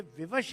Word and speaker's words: विवश: बेबस संस्कृत, ये miss pronunciation है विवश का। हम लोग जब वाह को मिस प्रोनाउंस करते हैं तो बा बोलते हैं, और जब शाह को मिस प्रोनाउंस करते हैं तो सा बोलते हैं। ये विवश है, जैसे लोगों ने बेबस कर दिया।